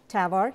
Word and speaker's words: TAVR: Okay, last myth, and I'm gonna confess, I'm not sure how to pronounce this. Is it TAVR? TAVR, yeah.